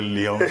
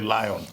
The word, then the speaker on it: Lyon: Some people call it Leon, some people call it Lion.